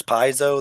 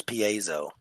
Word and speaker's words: piezo: other dictionaries and pronunciations there's three different pronunciations for for the word there's piso there's piso and then there's Paso right um but the word actually comes from Greek and as far as I can can tell it's paen in Greek so I don't really